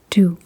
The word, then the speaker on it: du: And what you would say then is, "Hvad hedder du?"